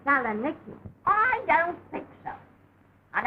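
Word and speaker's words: Salonika: Mine's in Salonaitis. Oh, you'll excuse me, Mrs. Haggerty, but the correct pronunciation of that is Saloniki.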